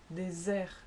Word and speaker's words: désert: Second case was in between two vowels, and here you have rose, so Z, or grosse, S, désert, dessert. And thirdly, in all other positions, then you do say S, quite simply.